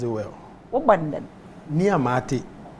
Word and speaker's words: Nii Amart: Nii Amart, but some people pronounce it like Amate and all that.